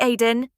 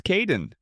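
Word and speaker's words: Kaeden: Hi Aiden. It's Kaden.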